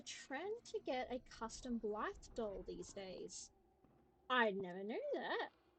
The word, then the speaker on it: Blythe: Or Blith. I'm pronouncing it as um Blythe because I've met someone whose name is Blythe, and that's how they pronounce it.